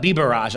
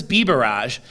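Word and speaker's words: Biberaj: Commonwealth attorney Bhuta Biraj, Bhuta Bibaraj, I believe is how it's pronounced.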